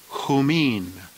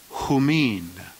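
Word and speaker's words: ὑμῖν: The plural genitive is pronounced humon, humon. The plural dative, humin, humin.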